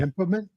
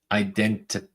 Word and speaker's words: idempotent: Idempotment? Idempotent.